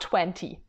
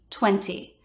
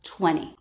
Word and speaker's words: twenty: It turns out it's not 20. Watch this. It's very uncommon for an American to say the second T, 20. You'll almost always hear it as 20.